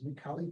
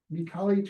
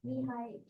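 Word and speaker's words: Mihály: Mihaly Csikszentmihalyi, who was the guy who invented the concept of flow. And you mentioned that as well. So It's Mihai Csikszentmihalyi. no, Mihaly Csikszentmihalyi. Yeah, but can you spell it?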